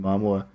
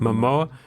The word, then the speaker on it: Momoa: What if Johnny Depp, he couldn't watch Aquaman because he got insanely jealous of Jason Momoa?